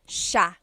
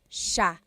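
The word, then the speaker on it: siya: should be pronounced but it's actually pronounced Sha Sha so the SI i y it's a sha sound sha and then another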